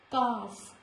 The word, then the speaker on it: calf: Behalf, not behalf, behalf, calf, half. Before K also letter L is silent, like stock, chalk, talk, not talk, folk, no.